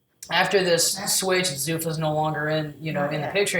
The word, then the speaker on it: Zuffa: Zuffa's no longer in the picture anymore.